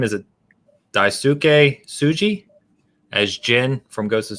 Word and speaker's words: Daisuke Tsuji: I don't know how to pronounce his name. Is it Daisuke Tsuji as Jin from Ghost of Tsushima?